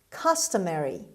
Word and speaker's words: customary: word number 10 customary customary customary the stress is at the beginning customary means usual ordinary